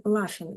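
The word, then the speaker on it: laughing: сміється She is laing оцей гх читається як F She is laing вона сміється що вона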